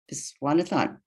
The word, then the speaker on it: Viswanathan: The new coordinator's name is Mina, and I'm probably going to mispronounce this. Viswanathon.